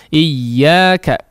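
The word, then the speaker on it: إياك: Iyyaka, iyyaka, iyyaka, ya. Madda, ya muddu, maddan, ya. Huruf yang bertasydid kita tidak membaca madda, ya, ya mudu, ya, atau iya, la. Tapi iyyaka, ada hentakan ketika masuk kepada huruf yang bertasydid, ya.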